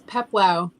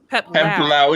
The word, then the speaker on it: Peplau: It's Peplau. Peplau.